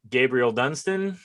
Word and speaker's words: Gabriel Dunston: I am speaking to my good friend Gabriel Dunston. Did I pronounce that correctly?